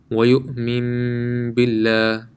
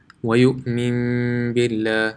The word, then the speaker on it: وَيُؤْمِن بِاللَّهِ: وَيُؤْمِن بِاللَّهِ. So what does this mean? Let's go to our drawing. Okay, so here we have وَيُؤْمِن بِاللَّهِ. So this noon sakin changes into a meme.